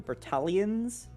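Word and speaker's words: Bertalians: s okay um so balians it's like Italian but B beros uh balians um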